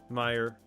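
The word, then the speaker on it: Meijer: Yeah, that's how you spell it. M I J E R. Meer.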